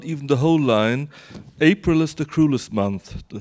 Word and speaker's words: April: the first word uh April and April in in German uh I think like in your languages as well uh yeah yes so we we are we are um unified in stressing the second syllable but the English don't so um so this